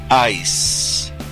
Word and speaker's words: ice: hielo y eyes ojos la palabra I que significa hielo se pronuncia con s Ice la palabra eyes que